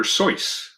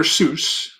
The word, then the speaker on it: Seuss: was written by dr seuss it's not dr seuss he pronounced it dr seuss and that that's such